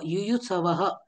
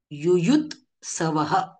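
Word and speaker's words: युयुत्सवः: समवेता युयुत युयुत्सव युयुत्सव युयुत्सव असं नाही म्हणत आपण युयुत सवह मामका पांडवा पांडवा किंम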